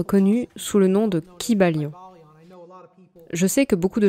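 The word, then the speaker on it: Kybalion: sur cette prononciation et aiment l'appeler le cab à lyon mais je trouve que c'est beaucoup trop anglicisé et je préfère le prononcer comme il aurait été probablement prononcé dans la langue grecque ancienne dans laquelle il n'y avait pas de son y court vous savez il y aurait eu un long son i qui bat lyon et chaque syllabe aurait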